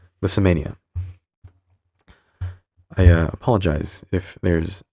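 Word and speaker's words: Lissamania: for erupting into rages, pronounced Lissa Mania. Liss Mania, I uh apologize if there's any background noise.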